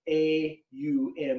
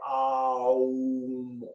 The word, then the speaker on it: Aum: And it's A-U-M, and the U is like a V. And it's pronounced Om or Aum or Aum.